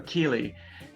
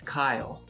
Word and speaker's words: Kyle: had in high school so keely uh the way my name is actually pronounced is kyle kyle oh sorry that's okay